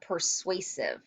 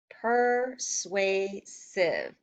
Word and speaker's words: persuasive: that word out loud persuasive per sway sieve has three syllables has three chunks in it and persuasive looks like and it sounds like another word that I know persuade and if I'm going